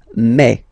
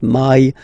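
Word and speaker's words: mai: Remember when you combine this a and then e vowels, you get the sound e. So really open e. Okay? And then you pronounce it me. Me. Okay? So don't pronounce e. Don't try to pronounce it. No, it's me. Me. So it's not my, it's me.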